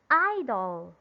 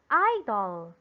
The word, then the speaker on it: idol: the syllable i correct it should be in the syllable i why what is it is it a noun or a verb okay it's a noun again how do you read it idol very good idol number